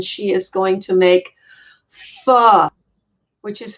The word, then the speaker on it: pho: is going to make pho, which is faux or pho. You're supposed to say it like F-U-H instead of P-H-O, which I have to say is probably, when it's made right, probably my favorite dish.